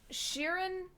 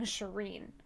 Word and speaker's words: Shirin: Sharon is the correct way to say it. I was saying Shireen.